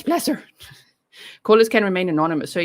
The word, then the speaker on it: Placer: on every platform and said it's pleasure pleasure not placer pleasure pleasure okay pleasure there we go a happy pleasure pleasure okay it's pleasure callers can remain anonymous